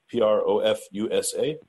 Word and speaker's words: Profusa: I have Ben Hwang, CEO of Profusa, P-R-O-F-U-S-A. I'm not sure if I pronounced it right, but Ben, is that right?